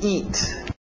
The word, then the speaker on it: eat: To eat. To eat. Aquele T bem nítida. Eat. Para no T. Eat. Isso. É a som de I. To eat.